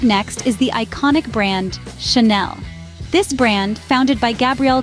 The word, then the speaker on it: Chanel: the at the end the second syllable is Nell rhyming with Belle so it's Shel now let's take a pause a moment of silence if you will for you to practice saying Chanel remember it's Chanel good